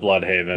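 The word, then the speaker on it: Blüdhaven: They pronounce it Bloodhaven. Yes, they do. In the show, because they are not German.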